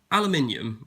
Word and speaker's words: aluminium: Now, aluminium, I'm going to use the British pronunciation, why not, seeing as I'm British, generally